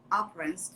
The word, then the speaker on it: appearance: But they were different in appearance too. Appearance. یک کوچولو appearance رو با فشار تلفظ کن چون اون سیلاب استرس داره.